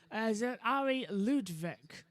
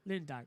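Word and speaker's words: Arie Luyendyk: is also home to two-time Indy 500 winner, Ari Ludwig. I hope I've got that right. Megan is going to have a go at me later if I've pronounced that right. Lewandijk, thank you.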